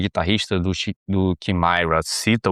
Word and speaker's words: Chimaira: A pronúncia, acho que americana seria Chimaira, mas a pronúncia abrasileirada que eu dou é Chimaira, pra ser bem direto, né.